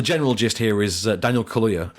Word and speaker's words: Kaluuya: The general gist here is Daniel Kaluuya. Kaluuya? Like the drink. Only not spelled the same.